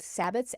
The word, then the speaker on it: Sabbat: So those the celebrations, the major ones or the high ones are called Sabbaths.